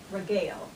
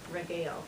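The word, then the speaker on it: regale: the day today and today our word is regil regil that's how you pronounce it the definition is to entertain sumptuously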